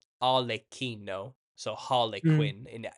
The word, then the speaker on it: Arlecchino: Harlequin, the name Harlequin, it not only comes from, it's pronounced Arlecchino, Arlecchino.